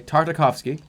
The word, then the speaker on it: Tartakovsky: Okay, Tartakovsky. Okay. Howie Mandel, that's not who we're talking about. Gennady Tartakovsky.